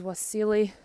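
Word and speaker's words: Wassily: This is Wasily, which is probably pronounced as a V, Kandinsky, who's a famous Russian artist.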